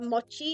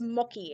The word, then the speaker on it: mochi: I was like, "Oh, do you know what mochi is?" And my uncle's like, "What's mocky?" And I'm like, I literally just pronounced it correctly.